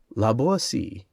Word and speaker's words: La Boétie: La Boétie, footnote. The name of the author should be pronounced with the T sounding like S and rhyming with poesy, accented on the last syllable.